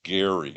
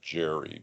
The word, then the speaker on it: Gerry: it's named after Eldridge I think it's actually pronounced Gary not Jerry but who was a